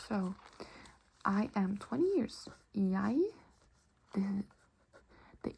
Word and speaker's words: jeg: So we can say, jeg er år. Or gammel. So this would be, I am years. So I am 20 years. Jeg, the E and G here are pronounced like jeg.